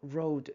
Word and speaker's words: road: 로드라고 lo OAD가 아니고 R o road가 아니고 road 발음 조심해 주세요. 자 계속해서 이야기를 보시오.